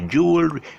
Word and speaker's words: jewelry: Okay, don't pronounce the full, don't pronounce 3 syllables. Actually, it should be basically 2 syllables for this word. Jewel. It's not jewelry, it's jewel. Actually, it's, when you say jewel without the W, when there's no W sound, then it's jewelry.